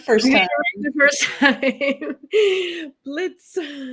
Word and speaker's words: Blietz: Blietz. Blietz, yeah.